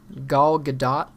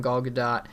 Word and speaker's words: Gal Gadot: And then we have Wonder Woman, starring, I think it's pronounced Gal Gadot, so that's just what I'm going to say.